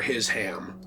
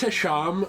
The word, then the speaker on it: Hisham: I'm sure it's Hisham, but I like the idea that his name is his ham.